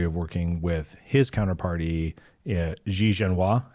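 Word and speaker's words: Xie Zhenhua: working with his counterparty XI jenoa is how you would say it right sh sha uh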